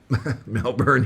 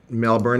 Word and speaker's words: Melbourne: No, he wasn't born in Melbourne. He moved to Melbourne, but he said everybody pronounced it Melbourne.